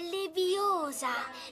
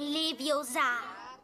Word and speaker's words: Leviosa: Per di più sbagli pronuncia. È leviosa, non leviosa.